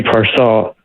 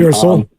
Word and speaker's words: Pearsall: I'm a little excited about, well, I'm not saying excited, but I have good feelings about Ricky Parcell, or however you pronounce his last name. Pearsall.